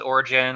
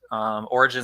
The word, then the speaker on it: Origen: Origen, I think it's pronounced Oregon. So a lot of people pronounce it Origen. I'm not sure it matters. Origen is the most natural to an English speaker.